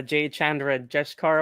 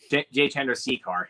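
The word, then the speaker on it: Jay Chandrasekhar: Jay Chandra Jeshkar or whatever. J. Chandrasekhar.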